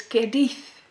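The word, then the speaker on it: Caerdydd: It's Cadiz. Yes, I learned that in Cardiff. It's the Welsh pronunciation of Cardiff.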